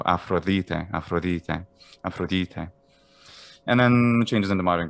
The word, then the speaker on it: Aphrodite: the delta also starts to become a fricative as well a little bit like spanish the the or any way of the same sound in english so afrolite and then changes into